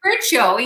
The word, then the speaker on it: Curcio: It has been pronounced the wrong way for so long that I've been saying it wrong myself when I'm introducing myself to people. it's actually Curcio.